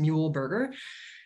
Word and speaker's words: Muehlberger: heard it actually said, it's said like a hamburger made out of a mule, much simpler than the actual German pronunciation that whatever came with. So just Muehlberger.